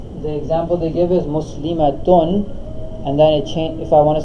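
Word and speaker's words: مُسْلِمَاتٌ: the t is open, muslimatun. Right. So we just said that the ta is not the short one. It says in pronunciation the only difference between the singular and the plural form is length.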